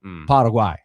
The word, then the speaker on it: Paraguay: Uh it just depends on how strict you want to be with the Spanish pronunciation. Paraguay.